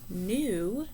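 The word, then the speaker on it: knew: practice spelling a word we have new this uses our um silent letter k so it's k n e w and number 12 we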